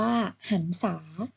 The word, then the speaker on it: หรรษา: อดร จัด 2 อนุสัน แต่ เห็น ไหม คะ สอเสือ บวก รอหัน จะ ออก เสียง ว่า สัน ต่อ ไป ค่ะ หรรษา อ่าน ว่า หรรษา คำ ว่า หัน เป็น เรือ เเบบ รหัน เขา